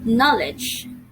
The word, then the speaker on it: knowledge: knowledge you're ready great the spelling of the word knowledge is k n o w l knowledge so it is an irregularly spelled word because not all letters are sounded and it is read differently right letter k wasn't red at all and letter e at the end of the word or of the spelling was in red too w wasn't red too knowledge okay therefore